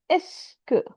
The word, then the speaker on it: est-ce que: Est-ce que, it's just, it's not like E-S-T-C, you know, everything is pronounced just S and then que, est-ce que tu connais ce chanteur?